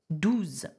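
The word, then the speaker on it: douze: how do you say 12 in French its dues okay so get over do them now what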